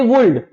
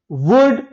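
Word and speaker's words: would: ज्यादातर स्टूडेंट्स ना गलत प्रोनाउंस करते हैं, ये एल को भी रीड कर लेते हैं और उनका प्रोनाउंसिएशन कैसे हो जाता है, शुल्ड, एस एच ओ यू एल डी शुल्ड, सी ओ यू एल D cooled, W ओ यू एल डी वुल्ड, जबकि गलत है, शुड, वुड, कुड।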